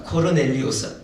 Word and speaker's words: 코르넬리우스: 라고 하는 사람이 있었다 고넬료는 중국식 발음이고 원래 로마 말로는 코르넬리우스입니다 코르넬리우스 아주 로마 사람들에게는 흔한